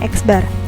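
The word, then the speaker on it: x̄: di atasnya ada garisnya atau disebut dengan eksbar ya kita bacanya eksbar Nah untuk menentukan mint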